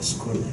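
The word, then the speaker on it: σχολή: 두란노 서원, 여기 서원이라는 헬라어 단어가 어떤 뜻이냐면 헬라어 단어가 발음 스콜레예요. 스콜레.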